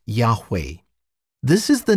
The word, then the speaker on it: Yahweh: anglicized form jehovah though most scholars today think that the name should be pronounced yahweh this is the name